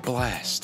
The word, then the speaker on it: Blxst: doing how to sound like blast that's blx st if you try to pronounce it how was spelled you might mess up a little bit we're gonna do